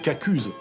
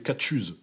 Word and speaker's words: caghuse: Ça peut être cacuse si on est dans dans le nord du département de la Somme. Si on est dans l'ouest, c'est catchuse comme un tien.